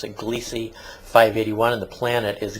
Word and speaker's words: Gliese: gliese 581 i guess you probably now you're pronouncing glissie i guess it's pronounced according to the science you're supposed to pronounce it gliese 581 and the planet is gliese 581g this